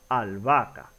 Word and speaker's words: albahaca: En este caso, la H, recordemos que cuando se pronuncia, la H no tiene un sonido, no se pronuncia. Por lo tanto, no impide ni la formación de diptongo ni la formación de hiato. Es decir, en este caso, la H, como no se pronuncia, no tiene un sonido, no se toma mayormente en cuenta. En este caso es como si estuvieran juntas la doble A, albahaca.